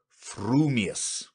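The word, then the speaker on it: frumious: your mouth and speak if your thoughts incline ever so little towards fuming you will say fuming furious if they turn by even a hair's breath towards furious you will say furious fuming but if you have the rarest of gifts a perfectly balanced mind will say frumius supposing that when pistol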